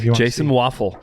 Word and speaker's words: Waufle: Waufle, Yeah. like the breakfast food. Yeah, but spelled differently different. though. It's spelled Exactly. differently, so just Yeah. pay attention. WAUF, F-L-E. one F, yeah.